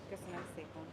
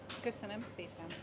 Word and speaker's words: Köszönöm szépen: Köszönöm szépen. Köszönöm szépen.